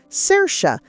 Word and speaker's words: Saoirse: The correct pronunciation is Saoirse, as the actress herself amusingly explained during a monologue on Saturday Night Live.